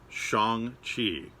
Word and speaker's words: Shang-Chi: We've all been pronouncing this wrong our entire lives. It is not Shang-Chi. It is Shang-Chi. And that was confirmed by the star of Shang-Chi, Simu Liu. It is pronounced Shang-Chi. Who knew?